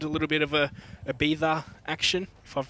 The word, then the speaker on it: Ibiza: But Ibiza. Oh. It's how you say it in Spanish. Oh, okay. You kind of make your Z a TH sound.